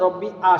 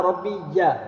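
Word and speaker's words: رَبِّيَ: এখন অনেক থেকে শোনা যায় রব্বি আ, শোনায় রব্বি আ তো না, রব্বি আ না, রব্বি ইয়া।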